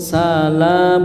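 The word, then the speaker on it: سلام: salam alaika ya rasul Salamah ini salah ya rasul salam bukan salam ahah ini kan masih kedengaran begitu bacanya salam sinnya panjang enggak enggak yang panjang apanya lamnya salam ala Jangan ngikutin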